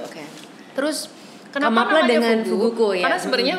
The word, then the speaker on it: Fugu: Karena sebenarnya Fugu itu adalah sebuah kata yang semua negara dan bangsa bisa menyebut dengan jelas dan nggak ada pronounce yang lain gitu loh. Fugu, penyebutan. Dari Prancis sampai China semuanya Fugu ya kan. Nggak tiba-tiba Fuguru gitu.